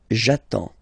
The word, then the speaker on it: attends: So the first form will be j'attends. J'attends. Okay? You get D and S. Well, basically you don't pronounce them.